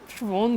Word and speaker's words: Schwann: Basically इनका नाम श्वॉन sales है, मैं शोवन बोलता हूँ, सो आप अपनी अपनी प्रोनाउंसिएशन है बेटे।